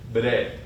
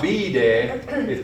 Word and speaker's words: bede: So Ashiti is I, bede is I go, bede. It's not bide, but it's that same syllable as it's just bede.